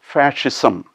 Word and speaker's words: fascism: extreme right-wing nationalist movement the tricky area in the word is the sc after fa it is pronounced as